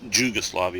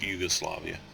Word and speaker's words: Jugoslavia: um in Central Europe it is common to use j instead of Y and it's a soft J uh in in words